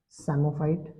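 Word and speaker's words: psammophyte: ट इज सफाइट sorry समो फाइट देख पी साइलेंट है इफ द प्लांट इ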